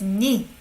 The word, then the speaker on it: 네: But we don't pronounce it as 내 because it sounds like 내, right? So we say as 네.